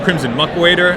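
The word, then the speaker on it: Crimson Muckwader: to figure out what I I was considering Crimson muck waiter that's how it's pronounced um as my two drop because I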